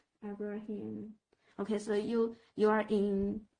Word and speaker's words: Abraham: The last syllable is just Abraham.